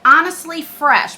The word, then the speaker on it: Honestly pH Fresh: Honestly Fresh, but it's spelled pH like resh.